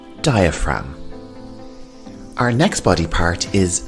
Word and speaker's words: diaphragm: have the diaphragm and the g here is silent diaphragm our next body part